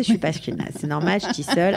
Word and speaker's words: Shtisel: Je l'ai mal prononcé, je suis pas ashkénaze. C'est normal, Shtisel. À chaque fois, je me trompe, c'est pas grave. Donc, Shtisel.